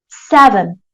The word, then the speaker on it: seven: parts so here in this number we say seven I rais my my voice on the first